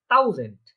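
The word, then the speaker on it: tausend: 1000, ডয়েচরা বলে থাকে এটাকে থাউজেন্ড, কি বলে? হ্যাঁ, থাউজেন্ড। ওই যে আমাদের একটা এইচ যেটা আছে এটা থাকে না, তাও জেন হয়ে যায় কি টে আ ইউ এস এ এন ডে, থাউজেন্ড। এটা থাউজেন্ড, থাউজেন্ড মানে থাউজেন্ড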